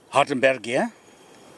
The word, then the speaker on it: Hardenbergia: So this is Hardenbergia. I'll pronounce it in the German way. We would say Hardenbergia.